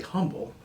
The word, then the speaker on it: Humble: guy from France and in France you don't pronounce the HS on front names but he was very humble it's just that his last name was humble